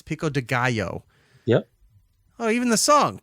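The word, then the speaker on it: pico de gallo: after the split roll Pico dealo okay cool I just I love the way you mispronounce that every time why no it's just fun I love hearing it because it's Pico Deo but you know you're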